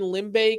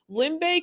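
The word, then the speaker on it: Limbe: near this beach in limbay cameroon which is my mom's hometown limbae cameroon it's spelled like l-i-m-b-e if you guys like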